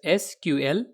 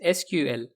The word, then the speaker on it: SQL: to pronounce the language some developers pronounce it as letters sql while some pronounce it as a word sequel both the pronunciations are widely used and recognized as an official iso standard spells and pronouns the language as letters sql we can say the most correct way to pronounce the language is as letters sql but as